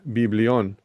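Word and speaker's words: βιβλίον: Y aquí la palabra libro eh en el griego se pronuncia biblión.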